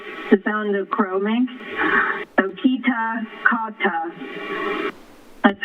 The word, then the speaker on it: Kitakata: the fountain of chroming okita kata that's how you pronounce it and the accent is on the key yes thank you we're